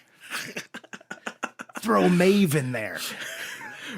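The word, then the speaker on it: Maeve: Mave.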